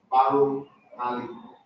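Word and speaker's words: Barrouallie: It's pronounced Baru Ali. It's a French word.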